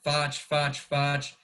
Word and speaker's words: FACH: They just kept saying Foch. So since then, that's kind of what I've always been known as. So I've always tried to make it easier by just making it look phonetically like Foch, F-A-C-H instead of the F-A-C-C.